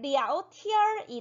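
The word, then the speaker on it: 聊天儿: 발음 기호로 따지면 " 랴오티안 " 이지만 , 대화 할 때 는 보통 " 어 " 소리 를 덧붙인다 고 설명 했어 요 .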